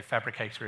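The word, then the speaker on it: Phabricator: It's written in PHP, so Fabricator is spelled PH, and then the rest of Fabricator.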